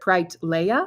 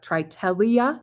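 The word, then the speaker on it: Triteleia: it spoken out loud so it's either trit Lea or trelia or trelia t r i t e l e i a that's how you spell it and it's a beautiful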